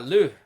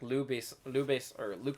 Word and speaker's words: Luc: Yeah, Luc. That's very French. I see. Is it spelled the same way? L-U-K-E? No, L-U-C. Luc. Lou. I always thought it was Lou. It's Luke? Luc, yeah. Oh.